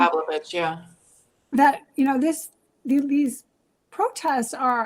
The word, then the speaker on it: Pavlovitz: Is that how you pronounce his Ron name? Pavlovich, yeah.